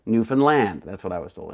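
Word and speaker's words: Newfoundland: to say it is it's not New Foundland it's got to say it like this isn't it Grand Newan land that's what I was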